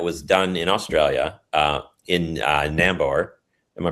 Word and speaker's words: Nambour: There was one quite good study that was done in Australia, in Nambour. Am I pronouncing that right? Nambour? You are. It's not far from me, actually, Nambour.